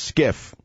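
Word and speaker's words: SCIF: show what is skiff sensitive compartmented information facility pronounced skiff in the United States military security and intelligence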